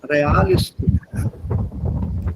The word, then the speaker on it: realistisch: Read this as real. This is a German pronunciation, not real, sondern realistisch.